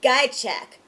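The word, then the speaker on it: Ghiaciuc: Eric Guychek.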